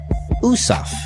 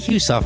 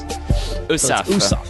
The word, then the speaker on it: Heussaff: April Our Guest is irwan USAF is the correct correct pronunciation now during the commercial break I was asking is it really husa I'm sure that there's a there's a French way the real way of saying your name and we're it up soan the the AG of silent the H is silent correct USF USF and is